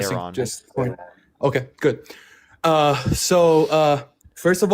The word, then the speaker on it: Iran: So if you're worried about pronunciations, it's Iran, is not Iran. So I say Iran.